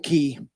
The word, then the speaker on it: Cay: And then the next time we went to it's called um Staniel Key. It's spelled CAY.